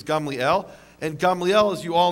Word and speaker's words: Gamliel: So a precedent a precedent which baniel you probably thought it was pronounced gamaliel. Uh the correct Hebrew pronunciation is Gamliel and Gamliel as you